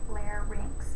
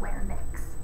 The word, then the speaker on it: larynx: y n x right lay rinks not lay mix the N does not come before the Y so that's a little